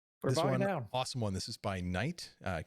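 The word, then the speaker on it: Knite: one this is by night uh k-n-i-t-e i'm pronouncing it night and it's hard at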